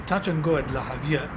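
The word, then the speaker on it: Javilla: We'll be flying from Tambor directly to La Havia Airport. It's spelled J-A-V-I-L-L-A. I assume it's pronounced Havia.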